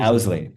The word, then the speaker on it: Owsley: It's pronounced Owsley, right? Or was it Owsley? Owsley.